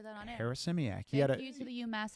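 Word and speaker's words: Harasymiak: put the pronunciation. That's where I'm having Harris-Simiak. Harris-Simiak.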